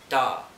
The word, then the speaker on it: 大: pronounced in very similar matter as Adam it's pronounced da da and this character is meaning big and